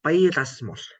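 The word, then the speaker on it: πειρασμός: Kata Yunaninya itu bacanya ini, Ibu Bapak, peirasmos.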